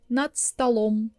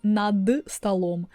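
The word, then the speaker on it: над столом: And if I say натсталом. You hear, I'm not saying надсталом, I'm saying натсталом.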